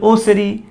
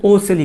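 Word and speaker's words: ocelli: আমরা অনেক সময় বলি না ওসেরি, এটা হচ্ছে ওসেলি। কিছু কিছু ছেলেরা আছে কি করতে পারে না, সেরিকে মানে বৈষণ্যকে বৈষণ্যর উচ্চারণ করতে পারে না, সেরিকে সেলি বলে।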